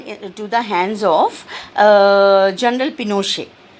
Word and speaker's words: Pinochet: power passed on into the hands of General Pinochet P I NOC Sgt and it is pronounced as Pinochet and he was a military commander so he